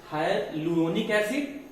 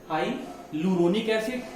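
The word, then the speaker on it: hyaluronic acid: heparin, हाइलुरोनिक एसिड, ये ए silent हो जाता है, हाइलुरोनिक एसिड, ए साइलेंट रहेगा, हाइलुरोनिक एसिड, और थर्ड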